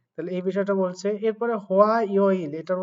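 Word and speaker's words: 화요일: এরপরে হোয়া ইয় ইল, এটার উচ্চারণ হয় হোয়া, ও আ ই ও ইল, হোয়া ইয় ইল।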